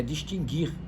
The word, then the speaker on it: distinguir: da palavra distin g1r Afinal é distinguir ou distinguir eu acho que você tá na dúvida não é é distinguir embora pouca gente fale assim não tem trema não